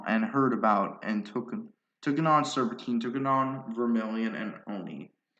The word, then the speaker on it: Serpentine: oni, a vermilion, and Kalmar pronounces it as Serpenton, but that's like an arrow, so it's Serpentine.